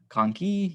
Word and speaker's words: conchae: Conchae, you just add an E to it and then say it like conchae to pluralize it.